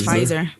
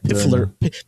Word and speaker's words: Pfizer: correct one of you i think it's pfizer pfizer there's a fighter yeah i always kept saying it wrong because i said piffler fizzer fizzer find